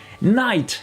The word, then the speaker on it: knight: allez on commence avec le cas qui s'efface toujours devant à ncc super fréquents comme cas on voit ça